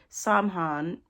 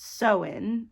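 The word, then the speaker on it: Samhain: night of the year saman s so oh wow pronounced soen oh why Wow Wow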